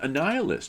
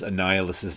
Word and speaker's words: Annihilus: And I could never figure out how to pronounce Annihilus's name as a kid. I think I sounded it out, Annihilus. That makes sense, Annihilus. Because it never struck me that the root word for it was annihilate.